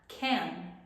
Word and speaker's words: can: ver hoy es can la pronunciación es como entre una e y una a can aquí podemos ver la